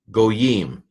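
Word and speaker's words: גּוֹיִם: So gimel, cholam vav, so that's a long O, yod, hirik, final mem, goyim.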